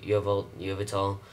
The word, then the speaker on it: Yveltal: And apparently the three legendary Pokemon, Yveltal, I pronounced his name wrong in the last episode, Yveltal.